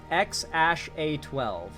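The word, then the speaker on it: X Æ A-12: It's apparently supposed to be pronounced X-A12. X-A12 is apparently how the kid's name is pronounced.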